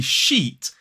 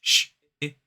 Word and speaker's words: sheet: So this would be sheet, and the rude word would have the I. So it's sh-it. That's the rude word. It rhymes with hit or it. It's basically the word it with a sh at the front of it. So if you want to avoid that rude word, make sure to pronounce and hold that long vowel sound.